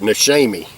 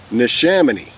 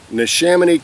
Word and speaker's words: Neshaminy: of in cursive there and i call it nashemy it's what i call it but it's actually nishamani neshamini creek brewing company all right um it's in